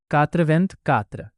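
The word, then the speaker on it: quatre-vingt-quatre: इसीलिए 84 का फ्रेंच में प्रोनाउंसिएशन होगा कात्रवेंत कात्र।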